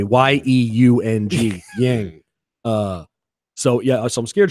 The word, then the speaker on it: Yeung: I was young J, YEUNG, Yang.